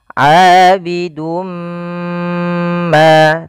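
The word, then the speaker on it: عابد ما: Maka caranya adalah kita masukkan dulu huruf tanwinnya kepada huruf mim. Maka pada lafal ini kita cara membacanya adalah kita masukkan tanwinnya kepada huruf mim, kemudian ditahan. Abidum ma, tahan ma, baru dilepas.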